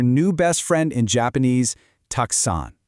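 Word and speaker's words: たくさん: Tuxon, pronounced tuxon.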